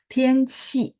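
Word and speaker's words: 天气: Tianqi, bacanya qi. Kalau yang kamu tulis JI, misalnya nada 4 ya contoh ya. Ji, itu bersih.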